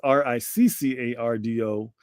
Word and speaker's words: Riccardo: So it is Riccardo. And that's Rick, not Rice, not Rico, not Ricky.